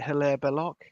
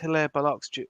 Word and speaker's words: Hilaire Belloc: Is it Hilaire Belloc?